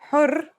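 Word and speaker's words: حُرّ: Har means hot, while hur means free.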